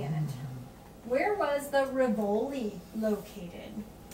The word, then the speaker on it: Rivoli: Rivoli, I guess. I keep wanting to say ravioli, but that's not right. There's no A in it. Where was the Rivoli located?